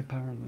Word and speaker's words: PyraLight: And Guy, I have other things from Guy, and the PyraLight, is that how to pronounce it? Yeah, PyraLight.